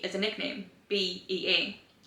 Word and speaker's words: Bea: B-E-A. Her nickname is spelled B-E-A, but they pronounce it Bea, and I didn't like that.